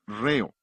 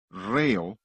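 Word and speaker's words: ῥέω: Es la palabra griega reo, R-H-E-O. La H es el acento en griego, por eso acentuamos la primera sílaba de la palabra ritmo.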